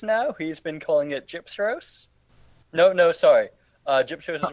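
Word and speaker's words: Gypceros: he's been calling it Gypseros. No, sorry. Gypseros is one of the... No, he's been saying Gyseperos. Whoa. I say Gypseros. I've corrected it multiple times. That is not the order of the letter.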